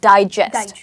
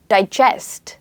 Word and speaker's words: digest: And that is a noun, okay, where we stress on die, right? And you say digest, okay? And there's another word, digest. So as you see, I stressed on the second syllable here, digest, and jest is the stressed part. Now this is a verb, as in you're digesting